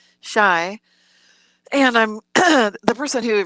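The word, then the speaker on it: Chia: or the area called c-h-i-a which is pronounced shy and i'm the person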